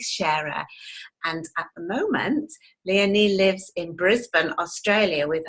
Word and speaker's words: Leonie: Now Leonie, her name is actually pronounced like Princess Leonie. So I've got to remember that, Leonie.